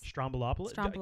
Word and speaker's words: Stroumboulopoulos: Stroumboulopoulos?